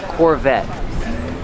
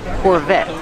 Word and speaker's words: Corvette: let's talk about pronunciation Corvette the te is a stop T the E is silent Corvette Corvette pronounce the V with